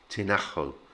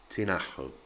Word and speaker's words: Tinajo: tinajo um actually uh the j sound becomes very much like an h sound in spanish so it's tinajo and remember that push on the ah syllable tinajo and this one i've